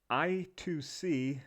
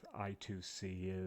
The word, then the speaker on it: I2C: digital or numeric value i2c sometimes pronounced i squared c stands for inter-integrated circuit